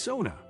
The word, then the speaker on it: sauna: dips in a lake the sauna pronounced Sona the first syllable rhyming with cow is a Finnish cultural